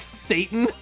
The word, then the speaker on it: seitan: Seitan is oh, it's pronounced like Satan.